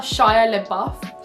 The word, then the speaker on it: Shia LaBeouf: And now for step 8, I'm going to be channeling my inner Shia LaBeouf. See that pronunciation there?